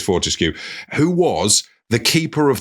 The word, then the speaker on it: Fortescue: That isn't pronounced how it's written, but it is. We're safe. It is Fortescue, who was the keeper of the royal wardrobe, which was a job role.